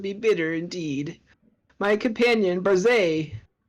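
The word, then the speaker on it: Barzai: My companion, Barzay, that's how his name is pronounced, once scaled a peak only a fraction as sacred, and he was never seen nor heard from again.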